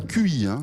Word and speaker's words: Qi: Retenez ce nom alors ça s'écrit QI. QI, absolument. Ça se prononce Qi, mais c'est QI.